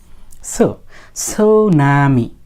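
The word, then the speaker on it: tsunami: ওরা করে না সুনামি এস এর পূর্বে টি থাকলে সেই টি এর উচ্চারণ হয় না সাধারণত আচ্ছা যাই হোক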